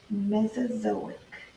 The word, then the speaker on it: Mesozoic: we have a new word this word is pronounced mesozoic yes I know say so Matt so so